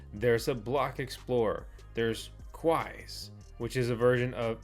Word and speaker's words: Quai: It's like Quai, it rhymes, but CLI is a proper term there.